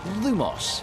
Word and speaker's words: Lumos: Lumos.